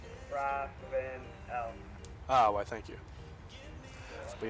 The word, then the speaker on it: Ravenel: No, not Revenal. How do you say it? Ravenel.